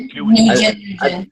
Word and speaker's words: Nguyen: But that's not right because the N is silent. It's like Nguyen. I think it's a win-win.